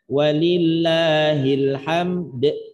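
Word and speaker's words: ولله الحمد: walillahil ham, maka cara bacanya mensukunkan bunyi dal. Dal punya sifat diantaranya qalqalah, maka juga qalqalahkan walillahil hamd.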